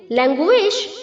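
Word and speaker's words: language: मंद होना लेजस lazing लैंग्वेज लैंग्वेज लैंग्वेज यहां पर जो बच्चों लैंग में जी के आगे यू है उसे हमें डब्लू की तरह प्रोनाउंस करना है विश जैसे हम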